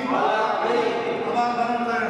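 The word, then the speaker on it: مَالِكِ: লি, লাম কি, লাম জের লি, হবে কি মালিকি, বাংলা না দেখা মালিকি, মালিকি, তাড়াতাড়ি মালিকি, মালিকি, আবার বানান করেন মিম জবর মা, মিম জবর মা, লাম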